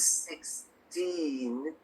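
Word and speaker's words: sixteen: 60, the stress is on the first syllable. But with 16, the stress is on the second syllable.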